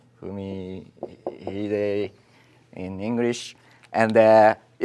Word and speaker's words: Fumihide: Even I, sometimes it's difficult to say, but it is Fumihide. Fumihide. Fumihide in English. And this Chinese character corresponds to the pronunciation of Fumi, and this, hide.